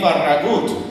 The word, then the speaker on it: Farragut: That was David Farragut, or more accurately pronounced, David Farragut, whose biological father was a Spanish soldier who fought for the United States in the Revolutionary War.